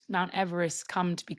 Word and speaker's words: Everest: The guy it's named for is called George Everest who actually pronounced his name.